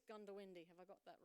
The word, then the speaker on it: Goondiwindi: So I am new to Queensland, so please forgive me if I don't pronounce this correctly, but I think it's Gundawindi.